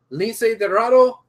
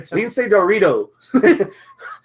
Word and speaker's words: Lince Dorado: Kalisto, Lince Dorado. I don't know why I can't pronounce that now. Dorado. I don't know. I'm having Lince Dorito.